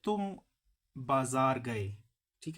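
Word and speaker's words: بازار: बाजार ही कहते हैं लेकिन थोड़ा सा चेंज करके ये प्रोनाउंस करते हैं फारसी लोग थब बजर अब ये जो तू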